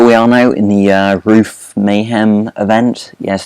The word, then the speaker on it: Ruf: Here we are now in the Ruf Mayhem event. Yes, it's pronounced Ruf because it's German. You pronounce the U as a sort of oo sound, so Ruf.